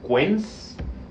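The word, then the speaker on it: Kühn: un poquito más impronunciable, pero el apellido sería quens. Quens, el apellido en en en lengua alemana, ¿no?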